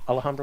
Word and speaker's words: Alhambra: I always say his name wrong. Tobricane Alhambra. Yeah, I was right then. Alhambra was the correct way.